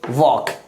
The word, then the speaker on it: walk: Silent होती है, यानी लेटर L जो है प्रोनाउंस नहीं की जाती है, तो इसे क्या पढ़ेंगे हम लोग वॉक।